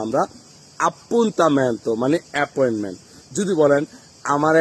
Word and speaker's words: appuntamento: পুন্দামেন্ত পুন্দামেন্ত বলি। আসলে এটা কিন্তু সঠিক উচ্চারণ না।